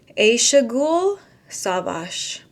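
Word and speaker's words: Ayşegül Savaş: lot of you guys told me how to pronounce her name aaou savash yes this was a very understated book it's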